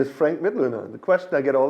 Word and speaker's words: Mitloehner: Yeah, my name is Frank Mit Luner. The question I get all the time is how do you pronounce that last name? It's a good question. It's like to learn Mitt.